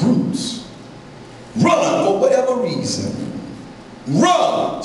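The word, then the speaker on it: רוץ: Run as a Hebrew word is pronounced roots.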